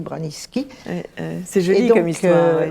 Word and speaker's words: Branicki: Parce que ça s'écrit Branicki, mais on dit Braniski.